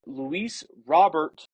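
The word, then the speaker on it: Luis Robert: and I'm going to get the correct person pronunciation of baseball reference is Luis robbert Jr all right thank youa laanta uh yes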